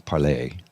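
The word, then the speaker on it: Parler: Everybody used to call it Parlor. I'm like, "No, it's Parlay."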